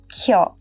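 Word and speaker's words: କ୍ଷ: You will find another letter in the Odia script is Kya, which is equivalent to Devanagari Shya and pronounced as Kya.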